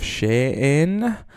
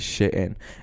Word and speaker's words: Shein: on the homage of Shane I call it Shan I don't know why but like the correct pronunciation is sh in anyway so what you